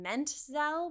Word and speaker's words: Menzel: Interesting fact, Adena actually changed her last name from Menzel with a t n tz l to menzel not ti which she found better reflected the pronunciation her family adopted in the US.